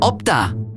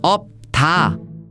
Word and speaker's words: 없다: Wait, why is opta pronounced opta and not opta?